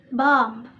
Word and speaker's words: bomb: We pronounce it bomb.